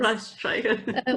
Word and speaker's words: Rijswijk: And I can't even pronounce the Rijswijk. the place. Patchwork and Quilt Days in Rijswijk. Yes. Rijswijk.